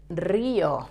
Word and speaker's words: río: Tip of your tongue touching the front of the roof of your mouth without touching the rest of the palate with the tongue. And pronounce the R and the I.